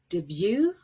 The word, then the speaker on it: debut: t gets pronounced but a t at the very end is usually silent and we have borrowed the word with sort of french pronunciation with the stress at the end for example ballet chalet gourmet coup d'etat debut and rapport and this is different